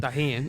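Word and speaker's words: Tajín: Put some tajin in it for everyone. Thank you for pronouncing it correctly.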